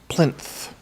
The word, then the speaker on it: plinth: It is TH. Plinth. Ooh, I didn't say it right. Okay, this is an interesting I had episode. a TH at the end. I was throwing an F in there for some reason.